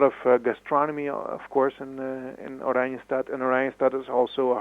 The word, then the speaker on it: Oranjestad: The capital city, I think you said it's pronounced Oranjestad?